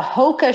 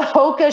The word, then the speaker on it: Hoka: So I think the Hoka shoe is a new shoe that's been on the market now for a few years.